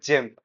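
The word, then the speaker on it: gym: So I had to kind of listen again and again, especially with GM and all. Not GM, Jim.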